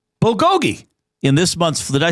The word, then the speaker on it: bulgogi: Festive cranberry versus Korean bulgogoi. Bulgogi in this month's.